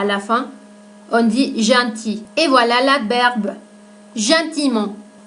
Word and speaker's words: gentil: et gentiment voilà l'adjectif junte il on ne prononce pas la lettre à elle à la fin on dit gentil et voilà la berd gimont donc attention aux